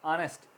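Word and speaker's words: honest: वे can arrest arrest में आगे silent है ओ एन ए एस टी की आवाज ए रही है ऑनेस्ट ऑनेस्ट हॉनर इज्जत आगे साइलेंट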